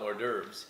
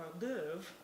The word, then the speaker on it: hors d'oeuvre: I call them hors d'oeuvres.